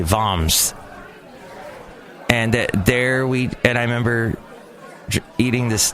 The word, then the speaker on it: Worms: It was in the town of, it's spelt like worms, but I think they say Worms.